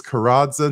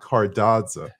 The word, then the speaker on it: Karadza: It's Karadza, not Cardadza.